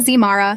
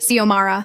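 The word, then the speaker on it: Xiomara: My name is Sio Mahra, I said. Not Zara, not Xara, not Zara. Ziomara.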